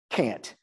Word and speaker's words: Cant: So the poet critic Fred Moten, who I mentioned earlier, has an essay called Black Cant, pronounced Cant, an update.